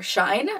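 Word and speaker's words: Shein: got off xi'an and our shine as i was told it's pronounced it's just something i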